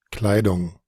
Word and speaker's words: Kleidung: Kleidung. Die Kleidung, die Kleidung, En el caso, ¿verdad? De lo que vendría siendo la pronunciación del Deutsch, pero al estilo de Austria, hay un cambio en la pronunciación, ¿verdad?